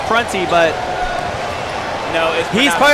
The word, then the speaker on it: Prunty: line to shoot too by the way it is pronounced prancy but you know he's